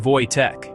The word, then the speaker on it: Wojtek: His name was Wojtek, pronounced Wojtek.